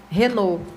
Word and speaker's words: Renault: Renault. Renault, Sim, igual o carro.